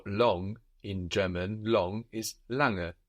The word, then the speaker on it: lange: The word for long in German, long, is lange. L-A-N-G-E. And this N-G that is falling on the end of the syllable is like the English ing. Lange. We don't have a hard g sound.